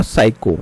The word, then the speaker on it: psych: ठीक है, नेक्स्ट है अब हमारा यहाँ पे जो रूट वर्ड हुआ है साइकी, साइक और साइको, साइक और साइको। कई बार आपको PSYCH जिसको हम साइक प्रोनाउंस करेंगे, या फिर PSYCHO साइको, जो डिनोट करता है माइंड से रिलेटेड टर्म्स को।